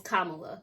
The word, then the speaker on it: Kamala: Sorry, I say her name wrong. It's Kamala. Kamala.